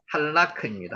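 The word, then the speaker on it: הלך: 할라크.요 라메드가요. 중간에 올 때는 앞뒤로 다 영향을 미친다고 지난번에 한번 말씀드렸죠. 그래서 할라크 리얼이 앞에도 영향을 미치고요. 여기 자체도 영향을 미칩니다. 할라크. 하라크라고 안 읽고요. 할라크라고는 거죠.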